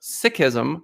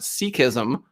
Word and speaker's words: Sikhism: pradeep talked about that we talked about sikhism which i would have pronounced sikhism 10 minutes ago but now i understand from pradeep that that is the correct way to pronounce it there is a a